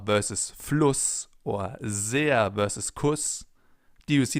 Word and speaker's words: sehr: That's why it's called Bienen S, because it's pronounced Z, as in super, for example, or sehr.